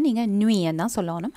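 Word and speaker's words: nuit: So first word வந்து இரவு, இரவை வந்து நைட்டை நீங்கள் நுயன் தான் சொல்லணும், அந்த தீயை வந்து ப்ரொனவுன்ஸ் பண்ணுறதில்ல, ஸோ நுய்.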